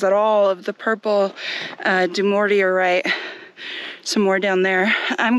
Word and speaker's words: Dumortierite: So on this giant rock here, this purple stuff, right here, this is Dumortierite. And the way I remember how to say it is do more to your right. Dumortierite.